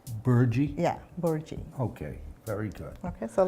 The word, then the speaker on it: Bhurji: Would you pronounce that again? Bhurji. Bhurji? Yeah, Bhurji.